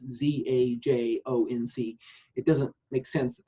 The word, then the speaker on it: Zajonc: So when you come across that name, you'll know It's pronounced science, like science with a Z.